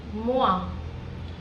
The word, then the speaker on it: moi: So in French we actually pronounce o i as w so different. So I have already jotted down few examples like moa toa boa toa see that spelling is m o i.